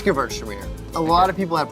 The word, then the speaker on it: Gewürztraminer: It's Gewürztraminer. A lot of people have problems with saying this word. If you take the W and pronounce it like a V, Gewürztraminer.